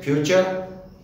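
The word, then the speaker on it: future: Rule number B, यदि शब्द में टी के बाद यू आर ई आए तो टी का उच्चारण चै होता है, जैसे फ्यूचर एफ यू टी यू आर ई, टी के बाद यू आर ई आया तो उच्चारण चै हुआ फ्यूचर।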